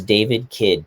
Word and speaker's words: David Kidd: Yeah, it's David Kidd Ki D.